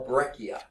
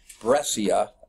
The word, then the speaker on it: breccia: either conclude conglomerate or breccia okay assume I'm pronouncing that right it could be dressier okay but I think it's breccia okay you'll see this